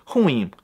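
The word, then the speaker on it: ruim: But the Portuguese R is bisexual, so in addition to sounding like a normal R, it's also often pronounced like an H, as it is in my favorite word, huim.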